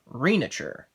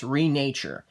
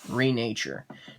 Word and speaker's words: Renature: one for this unboxing video i'll be unboxing reenacture or should i say actually it's renature it is pronounced renature now what is renature what does that mean